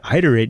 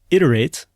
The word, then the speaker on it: iterate: But in any case, it is pronounced iterate with a short I and it is an important part of engineering.